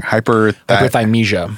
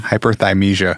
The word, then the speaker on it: hyperthymesia: Oftentimes people who have I always fucking pronounce it wrong. Hyperthymesia. Hyperthymesia.